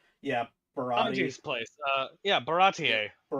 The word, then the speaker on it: Baratie: Uh yeah, Baratier. Barattier.